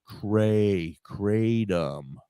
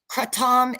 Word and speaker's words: kratom: Well, kratom is what they call it in Europe. In Asia, it's kratom. I'm sorry. But when I say it like that, people look at me like I'm insane. So no, kratom is how the Americans say it.